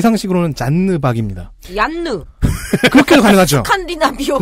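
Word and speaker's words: Janne Pak: 제 상식으로는 잔느박입니다. 얀느. 그렇게도 가능하죠. 스칸디나비오 네. 스타일로 하면 안 돼? 한. 그러니까 ANN이니까요. 잔느박인데요. 본인은 제니박이라고 읽고 있습니다.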